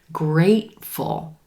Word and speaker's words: grateful: similar in the word grateful grateful that second syllable is super quick we're stressing the first syllable and the gray day a vowel great full and